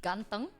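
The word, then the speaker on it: ganteng: I if I say gantang it is spell g a n t e n g nothing to overthink every Indonesian word is read exactly like how it's written no silent [ __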